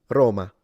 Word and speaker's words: Roma: It means take this syllable, ro, and lengthen it to at least double its length. Ro, and then ma, which means the city of Rome. Roma, Roma.